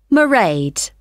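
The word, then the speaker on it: Mairead: see my assistant merade sorry how do you spell that it's m a i r e a d marade okay got that it's not a name i'm familiar with oh it's an irish name she comes from dublin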